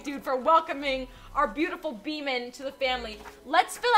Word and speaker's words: Beeman: And we're gonna spell it Beeman, but it's pronounced Beeman, because that's how I say demon.